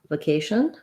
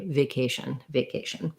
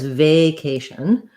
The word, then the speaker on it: vacation: Same K stress in vacation. I'm going to take a vacation. And I would say you either can use a schwa here, vacation, or you will hear people use a short but still clear A, vacation. What you don't want is vacation. with any stress on the they, but you can have a couple of options for the vowel there.